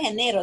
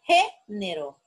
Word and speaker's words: género: No dije género, dije género. Entonces, género es una palabra también esdrújula porque la sílaba tónica la tiene la antepenúltima sílaba.